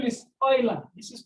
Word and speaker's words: Euler: The name is Euler. This is pronounced as Euler. It's a French name. It's pronounced as Euler, not Euler.